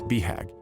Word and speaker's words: BHAG: The acronym BHAG, commonly pronounced BHAG, is universal to both entrepreneurs and self-help authors.